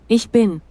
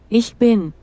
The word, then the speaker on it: Ich bin: Ich bin ich bin. Vocês viram? Ich bin ela pronunciou para você. Agora você sabe como é que pronuncie, tá?